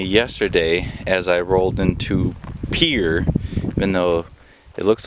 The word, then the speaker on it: Pierre: dawned on me yesterday as I rolled into Pier even though it looks like it's supposed to be Pierre apparently it's pronounced Pierre uh yesterday um I got caught